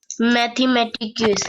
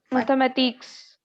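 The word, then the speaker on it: mathématiques: Whenever consonants lie in the end, we do not pronounce them.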